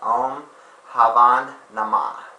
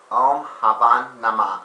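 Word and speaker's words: Om Bhavam Namah: time saying, they actually, one of the words would start with like the letter B, and I guess I realized the letter B is silent. So this Sanskrit mantra was Om Havan Namah.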